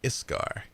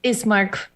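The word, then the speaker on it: Ismark: you asking uh arena or are you asking iskar i awake esk is mark is mark iscar ismart i i keep saying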